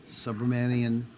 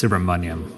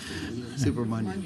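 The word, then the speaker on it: Subramanyam: Do you want Senator Subramanian? I apologize. I've got such a hard time with your name. It rhymes with onion, so it's Subramaniam. Yeah, rhymes with onion. Okay. Subramanian.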